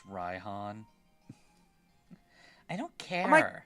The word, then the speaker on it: Raihan: It's pronounced Raihan.